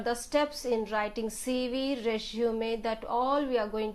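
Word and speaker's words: résumé: See how to write a resume. The pronunciation, though you see a spelling as RURESEMUME, sorry, so the pronunciation is like this: resume. This is the pronunciation of resume.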